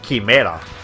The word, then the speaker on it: quimera: The Spanish word for chimera is quimera, so we don't pronounce it chimera or anything.